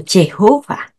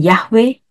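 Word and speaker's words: Yahweh: Tuhan sang empunya nama ada juga yang mengucapkannya dengan yova atau Jehova ada yang mengucapkannya dengan yahwe dan untuk semuanya ini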